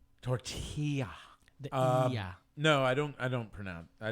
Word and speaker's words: tortilla: say excuse me sir it's tortilla you gotta make the Y sound tortilla yeah no I don't